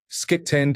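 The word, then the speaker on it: skitten: Skitend is Norwegian for dirty, pronounced like shitten.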